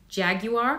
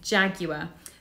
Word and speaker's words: Jaguar: We don't say it in the American way, which is Jaguar, I think. It's Jaguar. So they're the car brand, fancy, elegant car brand.